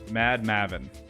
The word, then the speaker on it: Mad Maven: Wait, dumb question, but how do you pronounce your name? Mad Maven.